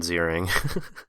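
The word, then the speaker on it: Ziering: um it's not even Ian zering it's Ian zering so I couldn't even get the first name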